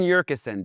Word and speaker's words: Yurcisin: We've got a very special VIP guest, Urkusen, the ultimate super connector of Brooklyn.